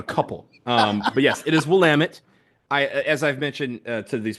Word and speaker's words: Willamette: Very quickly, the people from the Pacific Northwest were very quick to correct the pronunciation of Willamette, damn it. And that's actually how the 2 people told us to pronounce it, Willamette, damn it.